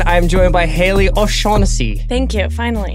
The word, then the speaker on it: O'Shaughnessy: I am joined by Haley O'Shaughnessy. Thank you. Finally. Yeah, finally the actual proper Celtic pronunciation.